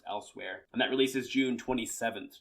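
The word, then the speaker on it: Elsweyr: moons of L else I think it's just elsewhere I know it's not spelled like elsewhere but I think that's how it's pronounced elsewhere and that releases June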